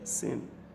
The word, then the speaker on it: س: Sin is a very sharp sound, unlike sword. So that when it is pronounced very sharply, it could affect the hearing. So a very thin and sharp sound.